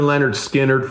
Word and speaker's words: Lynyrd Skynyrd: But good good for Leonard Skinnard for over the years, saving that for last, just like Kiss did with Rock and Roll All Night.